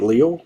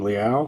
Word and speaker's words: Leal: I pronounced it Leal, but during the draft last year they called him Leal, so we're going to go DeMarvin Leal to the Steelers.